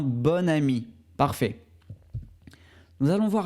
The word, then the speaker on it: bon: commence par une voyelle on prononcera bon comme bonne d'accord un bon ami parfait nous allons voir